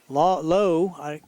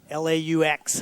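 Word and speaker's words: Laux: Looks like number 14, Braden Lowe, L-A-U-X. How do you pronounce that, Tony? I would say Low. Or Lau.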